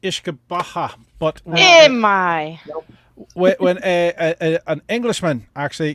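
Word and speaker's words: uisce beatha: It's Gaelic and it's actually pronounced Ishkabaha.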